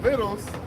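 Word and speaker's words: victuals: I'm saying it right it's actually the sea is actually silent that's right this is d devil language yeah behold viddles shall be so good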